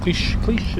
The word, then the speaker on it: Cliche: Cliche is your name? Yes, that's right. And it's spelt like cliche, but no Without the accent. no That's accent right. on the E.